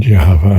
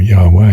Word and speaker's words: Yahweh: And Jehovah, or Yahweh, as the academics have gone for pronunciation, is an Egyptian import.